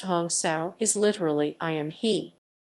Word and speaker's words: hansa: discrimination gaganda as a hansa or hansa pronounced hong sao is literally i am